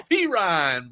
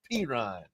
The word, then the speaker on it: Perine: When he introduced him on draft day, man, it's Perine, bro. Perine.